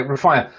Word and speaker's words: Rafia: Now, have I pronounced your name correctly, first of all? Yes. Right, okay, Rafia, welcome.